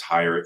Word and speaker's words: Heyer: see on the screen my last name is higher H ye R so when you spell